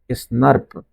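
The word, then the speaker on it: snRNP: अभी स्प्लाइसिंग में देखा था एसएनआरएनपीएस, या हमने इसे प्रोनाउंस किया था स्नर्प।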